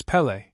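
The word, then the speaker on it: Pelé: to correct their pronunciation it's Pelle Pelle but after a while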